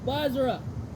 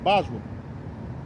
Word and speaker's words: Basra: The greater of the two was Basra. I always say Bosra. You say that too. Some people pronounce it that way.